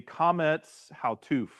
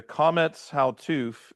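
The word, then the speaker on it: Qamets Hatuf: long O sounds, the Kometz Hautuf is your short vowel sound. Okay. The Kometz Hautuf is your short vowel sound like cost. Like cost.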